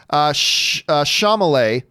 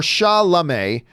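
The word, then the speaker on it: Chalamet: you should probably say his name properly it's sha male or sha'lame not sha male isn't that how it shot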